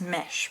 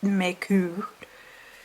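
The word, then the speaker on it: Mech: It looks like it's mesh, but it's pronounced Meku, who has 3 hearts with 3 serpents in them.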